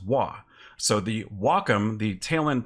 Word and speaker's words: Wacom: cool so Wacom first the wuah is the Japanese symbol for harmony it's how it's pronounced wha so the Wacom the